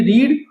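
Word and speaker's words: read: अब यहाँ पे देखिए मैंने बताया था कि रीड जब फर्स्ट फॉर्म के तौर पे बोली जाती है तो उसका उच्चारण होता है रीड, लेकिन जब थर्ड फॉर्म बोलेंगे तो हम इसको क्या बोलेंगे, रेड।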